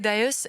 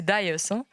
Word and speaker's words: Dias: Alors Dios, est-ce que je prononce bien votre nom ? Parce que vous m'avez dit tout à l'heure que il fallait que je fasse attention à la prononciation. C'est Dias. Ah Dias.